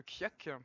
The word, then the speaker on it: Kjøkk: Oui, le kiak. Le kiak, et donc ça s'écrit K-J-O-K-K, je l'aurais jamais prononcé du tout comme ça.